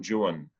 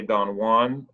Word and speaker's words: Don Juan: And this form, this stanza was something that Byron used in his poem called Don Juan. We would say Don Juan, but the British in the 1800s pronounced it Juan.